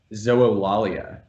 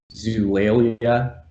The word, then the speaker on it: Zoolalia: this was coming uh i pronounced the book's title zoellalia uh other pronunciations that i feel comfortable with are zulailia zuwalia zoolalia zulaya as long as that first l doesn't get dropped completely then i'm happy but my my top pronunciation is the full five syllables zoho lollia and this is a